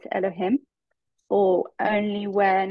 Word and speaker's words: Elohim: e sense and that is the way we pronounce that is Elohim so because you never have two names of